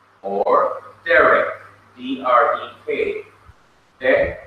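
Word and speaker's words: דרך: Derek, the first syllable, right next to the last syllable, has this accent mark.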